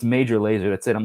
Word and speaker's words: Major Lazer: Don't ask me to pronounce major laser. Well, I know how to say it now, but yeah, no, it's not mejor laser, like some sort of idiot. It's major laser.